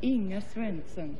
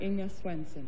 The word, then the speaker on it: Inga Swenson: Well, if you want to be authentic, it's pronounced Inga Swenson. Inga Swenson. From Omaha, Nebraska. From Omaha, Nebraska. But you can say Inga Swenson.